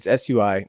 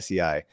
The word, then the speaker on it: SUI: to pronounce this, but it's SUI, not SEI.